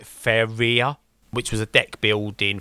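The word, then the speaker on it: Faeria: I'll pronounce this wrong I've heard some people pronounce it fairy I pronounce it faia which was a deck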